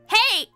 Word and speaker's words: hej: Is Hedge German? I believe it's Swedish. I say Hedge because it's the IKEA word, right? It's pronounced the same as hi. Hey!